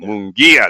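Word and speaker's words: Mungia: the with the mongi how do you say his name mongia mongia sorry mongia there you go I hope I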